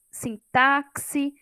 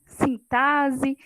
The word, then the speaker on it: sintaxe: linguística alguma coisa assim às vezes vai ler sintáxi synthaxe sintase não sabe qual que é a pronúncia correta então aí a palavrinha tem som de s tá é sentar-se sentar-se como se fosse dois o som de dois ésses porém a escrita com x e no exemplo